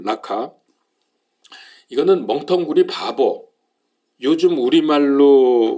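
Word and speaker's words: ῥακά: 자, 오늘 여기 말씀해 보니까 라가 그랬죠. 라카인데 이제 좀 정확히 발음하면 라카.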